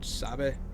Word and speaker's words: sabe: see ah dammit yeah they do say which i do believe is actually spanish but they don't say it like it's uh yeah i mean it it sounds like it sounds to me like sava which is like it's like the equivalent of like okay oh what is